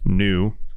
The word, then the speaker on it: NXU: basically rebranded to nxu which is pronounced new um because they took